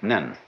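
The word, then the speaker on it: 念: they have a very interesting sign this it's pronounced n in Japanese nen and the top part of the character uh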